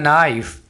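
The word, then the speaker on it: knife: करेंगे डेट इसे एन नाइस अब यहां पर आपने के को साइलेंट रखना है इसको कनेक्ट नहीं बोलना डेट इस एन नाइस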